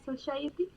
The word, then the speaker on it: society: And teacher, how pronounce soci- society? So sa So i ciety sa s a e ciety sa So no we so it's society.